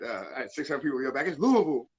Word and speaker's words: Louisville: the way i uh i say louiseville but i'm guessing the correct pronunciation is louisville technically it's louisville but like it's not